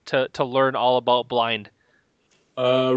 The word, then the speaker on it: Blynd: they can't really tell it's just pronounced blind the because blint or blo or whatever but at